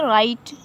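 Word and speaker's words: write: इसे क्या पड़ जाएगा, रॉन्ग पड़ जाएगा, इसे राइट और इसे रिंग पड़ जाएगा। अब देखें आर कहाँ साइलेंट रहता है।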